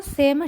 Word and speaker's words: सेम: सेम फली को सेम शिम्बिका कहते हैं, उच्चारण में ध्यान रखेंगे, सेम में दंत्य सकार हैं और शिम्बिका में तालव्य सकार हैं और ये आकारांत स्त्रीलिंग प्रातिपदिक हैं।